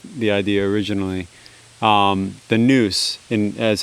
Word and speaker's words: NOUS: idea originally um the noose in as how it would be pronounced in ancient greek i simultaneously the way